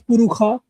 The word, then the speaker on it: Purusha: For example, certain Shakha would pronounce Purusha as Purukha, right?